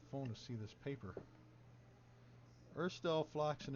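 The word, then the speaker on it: Urstul Floxin: Erstel Floxen is spelled Urstul, almost, Floxin. So it's a UL and an IN.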